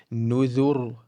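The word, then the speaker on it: نذر: So it will be nudhur, nudhur. Pay careful attention that the dhal is still flat.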